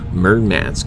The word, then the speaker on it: Murmansk: to insert a u.s navy seal team near mermats i believe is how it's pronounced a large russian seaport and so without